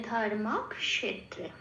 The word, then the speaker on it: ধর্মক্ষেত্রে: যেমন এখানে আছে আগের অক্ষরটা ম, ধর্মের ম, তাহলে একটা মক, ধর্মক, এভাবে উচ্চারণ হবে। আবার স পড়ে রইল, সটা তখন কি হবে পরের অক্ষরের সাথে চলে যাবে। ক্ষেত্রে, তৈরি করে রেকারের আগে গিয়ে ক্ষেত্রে হয়ে গেল।